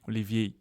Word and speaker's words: Olivier: got to get well once it becomes Olivier the AR silent Olivier Olivier but I called him Olivier and he didn't like